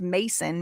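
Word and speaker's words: Macon: It's spelled M A C O N, but it's pronounced Mason. Mason Bay.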